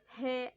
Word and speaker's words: ه: He, Waw, Ye. The first one is named He. How can pronounce this letter easily? He equal H in English.